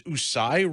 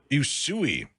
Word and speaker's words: Usui: John is also a Raiki master and an instruction of is this Usai Raiki, Reverend Poke? Is that how you say it? Yui. Usui.